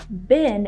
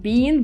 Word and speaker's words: been: I think it's interesting the way the girl says the word bin in English because it sounds exactly the same as for example rubbish bin the exact same pronunciation and this pronunciation of this word bean I mean not Bean but bin is the American one because in British English people would say Bean like for example if